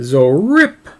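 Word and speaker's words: ZORIPP: uh there's our code zo rip um you have to say imagining there's an exclamation point at the end that's how it's pronounced is uh zoe rip um it's z-o-r-i-p-p two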